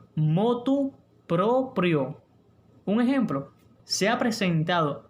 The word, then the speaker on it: motu proprio: aunque nos cueste pronunciarla, lo adecuado es motu proprio. ¿Escucharon bien? Motu proprio. No es motu propio, ni de motu propio, ni por motu propio. Repito, lo adecuado es motu proprio.